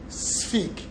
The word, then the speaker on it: sphygmomanometer: measured with an instrument called a sphig. Don't worry about the spelling, it's just S-F-I-G. That is how it is pronounced. In reality, it is spelled S-P-H-Y-G-M-O, sphygmomanometer.